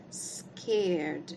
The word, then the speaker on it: scared: Ok i felt so scared nessa palavra a gente também não pronuncia esse e tá e a gente vai falar alguma coisa parecida com isso aqui scared scared I so scared